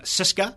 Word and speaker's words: CSKA: Leonid Slutsky who isn't the siska which is how you pronounce CSKA correct siska mr.